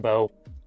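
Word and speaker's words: Mbow: It's pronounced Bo, don't ask me.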